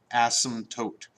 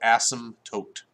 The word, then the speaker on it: asymptote: is called an asymptote asymptote when you pronounce it I think the P is silent so asymptotes and our asymptotes in